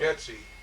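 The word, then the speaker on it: Geczi: Getsy. Getsy. Getsy. How would you spell that? Now, the Americanized version is G-E-T-S-Y, but the real Hungarian spelling is G-E-C-Z-I.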